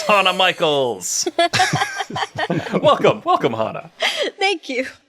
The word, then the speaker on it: Hana Michels: Hana Michaels. Yes. Exactly how it sounds.